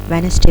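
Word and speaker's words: Wednesday: तो ये आप देख रहे हैं क्लाइंब में बी जो है वो साइलेंट है, वेडनेसडे में डी साइलेंट है.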